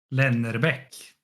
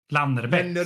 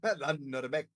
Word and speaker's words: Lannerbäck: Lars Johan Yngve Lennerbäck. Lannerbäck. Sorry. Lannerbäck. Läckerol. Lannerbäck. That's how you say it. Lannerbäck.